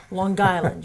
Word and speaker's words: Long Island: That's in Long Island with a G. Long Island. You have to say it right.